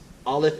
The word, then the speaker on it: Aleph: So, if Aleph is a silent letter and this sound makes the ah sound, then Aleph makes ah.